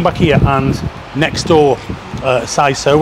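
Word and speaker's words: Seiso: Now, I was just going to come back here and next door, SISO, which is spelled S-E-I-S-O, SISO, which is the new place next to Looper, which is the old Pagan Whistle.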